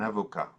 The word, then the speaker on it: avocat: It will be silent in the masculine, un avocat.